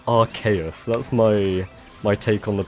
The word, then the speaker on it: Arceus: Yeah, I personally say Arceus. That's my take on the pronunciation of that Pokemon's name.